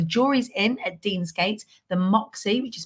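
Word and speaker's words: Moxy: So the Jury's Inn at Deansgate, the Moxie, which is spelled M-O-X-Y, the Premier Inn, and also the Deansgate Hilton.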